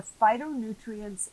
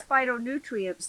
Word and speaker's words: phytonutrients: you about is the phytonutrients in the greens. That Phytonutrients. You know, fight. No, it's spelled different than that. It is. P-H-Y. Toe. Nutrients. Yeah. Phyto is, in Greek language, is plant.